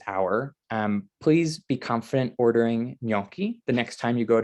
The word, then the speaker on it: gnocchi: It's a ñ sound, a long O, and then a hard chi at the end. It's 2 syllables, gnocchi, and the I at the end makes it plural in Italian.